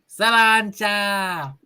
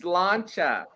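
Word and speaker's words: sláinte: ready one two three savanta it's slancha say it right off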